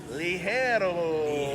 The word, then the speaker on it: Ligero: The way you pronounce it is Ligero.